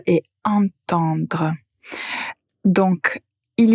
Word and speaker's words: entendre: la même façon mais la première syllabe est différente. Attendre. Attendre. Donc vous avez la lettre à tendre. Pour entendre vous avez la nasale.